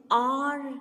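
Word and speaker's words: hour: example he was an r late r means a ganta but here h is silent though it begins the spelling of r is h o u r but we do not pronounce that h when we say it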